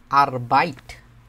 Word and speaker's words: Arbeit: উপরে দেখছিলাম একবার মনে আছে আপনাদের শুধু কাজ আরবাইট উচ্চারণটা কি আরবাইট তারপরে হচ্ছে বাইট।